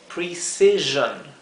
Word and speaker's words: precision: ahí está la dificultad la o siempre que una palabra en inglés termina en o n sí o i o n la o se pronuncia como un sonido intermedio entre una o y una e por eso escrito esto así entre una o y una e es la pronunciación s O sea no